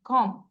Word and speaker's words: comb: না LAMB lamp just be বলবো না COMB কম কম থাম বি এর উচ্চারণ করব না বিটা সাইলেন্ট থাকবে LIS টিটা